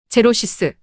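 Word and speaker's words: xerosis: 단어가 자음 X로 시작되는 경우 X를 Z로 발음합니다. Osis 제로시스 제로는 라틴어로 드라이 건조하다는 의미이며 전미사 오시스는 신체의 증상 신체의 컨디션을 의미합니다.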